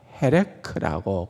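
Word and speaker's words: חלק: 그래서 어 첫 번째 단어 57절에 나오는 첫 번째 단어는 헤레크라고 그렇게 읽을 수 있어요.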